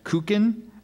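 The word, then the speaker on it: kuchen: shaped flavored and frosted are there any alternate pronunciations I have kukin and cin okay cin k u c h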